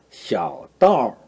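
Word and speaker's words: 小刀儿: 샤오따오. 이건 이 아우 발음이 어떻게 했나? 아우에 가깝다 그랬죠. 그래서 우 이 발음을 합니다. 우 이 발음으로 따오 따오 이렇게 발음하죠.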